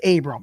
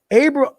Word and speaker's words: Abram: be the leader when it comes to corners abra i got the abram i'm sorry abram i'm sorry it's abram people say i get his name wrong all